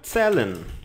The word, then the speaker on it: zählen: Você pronuncia assim, zählen, tá? O Z tem som de TS. Zählen, zählen. O trema faz com que a letra A ganhe som de E.